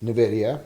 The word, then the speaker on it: Nvidia: there's Nidia and that's how it's pronounced it's pronounced Nvidia so what happened in here right around 1:00